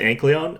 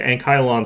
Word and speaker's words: Ankylon: I pronounce it Ankleon uh because it rolls off the tongue a little bit better and uh the Ankyon sounds really stupid. So I'm not going to pronounce it that way.